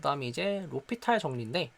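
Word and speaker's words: L'Hôpital: 그 다음에 이제 로피탈 정리인데 전 처음에 이거를 로피탈을 알고 있음에도 엘 호스피탈이라고 읽긴 했어요. 로피탈 정리죠.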